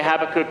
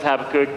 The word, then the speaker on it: Habakkuk: I say Habakkuk, Dwight says Habakkuk, some say Habakkuk. Both like tomato. Both are fine if you want to pronounce it either way.